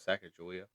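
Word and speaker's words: Sacagawea: Oh, that was Saka Julia. That's the Americanized version. Okay. Yeah. So, on that journey, they were pretty sure it's Sakawa.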